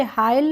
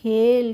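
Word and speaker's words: hail: ठीक है एच आई एल को क्या पढ़ेंगे हाइल नहीं पढ़ेंगे इसको पढ़ेंगे हेल कैसे पढ़ेंगे हेल पढ़ेंगे और बील को क्या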